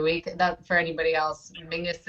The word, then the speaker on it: Menzies: That, for anybody else, Mingus is how weirdly the Scottish people, that's how they would pronounce Menzies. I don't understand where the G comes out of it, but it is a little weird, yeah.